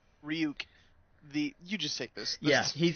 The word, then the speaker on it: Ryuk: How do you pronounce it? Ryuk. Ryuk.